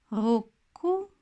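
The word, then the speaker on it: ロック: В японском языке, когда вы пишете катаканой, маленькое отцу указывает на удлинение звука, который стоит после неё. Рокку Року.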